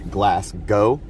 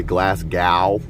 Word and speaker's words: Glasgow: last name is pronounced it's glass go glasgow the w in my name is silent a lot of people like to say hey bye hey bud i should say a lot of people like to say glass gal but it's actually glass go like go like stop go so yeah i mean